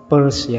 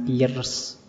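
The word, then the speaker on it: Peirce: ketiga Charles Sanders pe itu membacanya PSE ya jangan Pierce ya kayak kalau kalian baca dompet p u r s e purse jadi lebih seperti itu membacanya Oke Eh ini ngaji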